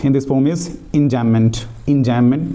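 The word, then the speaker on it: enjambment: एंजाममेंट means यहां पे बी जो होता है ना साइलेंट रहता है।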